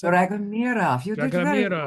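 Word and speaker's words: Dragomiroff: Is that how you pronounce it? Dragomirov. You did very well. Dragomirov.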